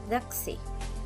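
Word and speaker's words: духи: russian we have here a russian word which is doxy when we put the stress on the first syllable it means spirits and when we put the stress on the second syllable it means perfume so you see in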